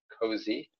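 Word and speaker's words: COSI: object storage interface or cozy so feel free to attend that and provide your input so sorry media is cozy the official pronounciation that's what we're going with okay like sorry let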